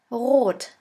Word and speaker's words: rot: In order to pronounce this letter right, you have to gargle in the back of your throat until it starts to vibrate. R. R. Now try. That is how we officially pronounce the German R, but in some region in Germany we also use the Spanish R.